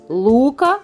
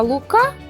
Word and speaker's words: лука: принести додому якусь рибинку лука взяв з собою те у назві чого наголос припадає на перший склад а лука прихопив те у назві чого наголос припадає на другий склад сонечко ледь припікало